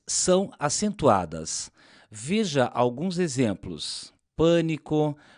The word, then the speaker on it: pânico: Em pânico, o A é mais fechado e em pálido, o A é mais aberto.